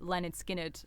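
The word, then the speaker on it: Lynyrd Skynyrd: I didn't know that Leonard Skinnard wasn't pronounced Leonard Skinnard.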